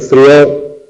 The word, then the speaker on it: frió: el pasado frió, él frió. No es yo freí, porque en freí el acento cae sobre la vocal cerrada, por lo tanto freí tiene dos sílabas. Pero frió, él frió, tiene una única sílaba.